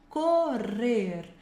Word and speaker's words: correr: Responder, correr. Tem que vibrar bem esses rs aqui, ó, no meio. Correr, levantar a língua no final também.